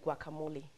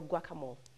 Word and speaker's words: guacamole: So we're making ugali, fried cabbage, and guacamole or guacamole. For some people the E is silent, for some people it's not silent.